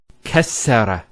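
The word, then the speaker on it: كسّر: can actually feel it the way it's pronounced kessara instead of kasara so once again there's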